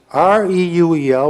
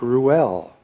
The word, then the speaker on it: Reuel: It was Reuel, which I suppose is pronounced something like Ruel.